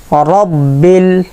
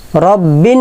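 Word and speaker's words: رب: বলবো না লিল্লাহি লিল্লাহি রব্বিল রব্বিন বলে অনেকে রব্বিন বিন বিন বলে বিন বলবো না রব্বিল রব্বিল রব্বিল আল আলামিন আলামিন আমরা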